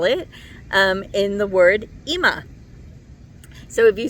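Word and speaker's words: אמא: But also the alf, no matter how you spell it, there's that alf there at the very end. Not the first one, the last one. So alf often is called a silent letter.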